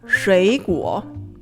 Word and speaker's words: 水果: We change the first one to a second tone, 水果.